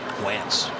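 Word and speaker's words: Wantz: His name rhymes with pants. Wentz.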